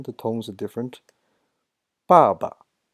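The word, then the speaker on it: 爸爸: And 爸爸. The tones are different. Same pronunciation. The tones are different. 爸爸. The second ba doesn't have any sound, doesn't have any tone.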